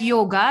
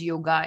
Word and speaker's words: yoga: you want it like yoga is not pronounced as yoga it's yog yog yo really so in